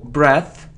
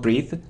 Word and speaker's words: breath: surprised report surface jewelry so breath breath not breathe so comment right jewelry